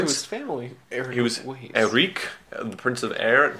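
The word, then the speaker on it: Erik: He was Eric, the Prince of Air at one point. And his family formerly knew him as Eric Weiss. I think it's pronounced Eric. I mean, it's a Hungarian.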